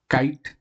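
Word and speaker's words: kite: ये क्या लिखा हुआ, काइट, लेकिन हमने ई को नहीं प्रोनाउंस किया, केवल यहीं तक प्रोनाउंस किया।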